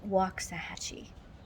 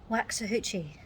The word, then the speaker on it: Waxahachie: get the pronunciation right it's called waxahachie not as british siri will tell you waxahuchi it is definitely not that and if you live